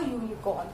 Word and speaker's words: unicorn: Okay, so it is giving you the pronunciation of Y.